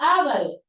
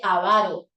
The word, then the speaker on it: avaro: O como el caso de la palabra ávaro, que uno podría escribirla como esdrújula y decir ávaro y colocar tilde en la primera A, como también podríamos decir avaro y pronunciarlo como una grave. Pero hoy nos dice no. La palabra que no tiene doble tildación, si quieres tilde, si quieres no. Ahora solo vas a decir avaro, como si fuera una palabra grave, así, avaro.